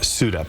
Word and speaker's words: SUDEP: Let's talk about SUDEP. Did I pronounce that correctly?